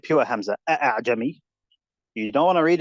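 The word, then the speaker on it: أأعجمي: Make it easy to pronounce. Don't pronounce it 100%. Jami.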